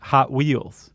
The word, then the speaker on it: Hot Wheels: That's how they pronounce it, Hot Wheels. Oh, instead of Hot Wheels? Yeah, the emphasis is on the hot.